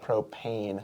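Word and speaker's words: Propain: Oh, propane. Propane. Like you're going to get hurt.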